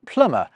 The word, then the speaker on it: plumber: It's through this process that plumber gets its silent B and receipt gets its silent P.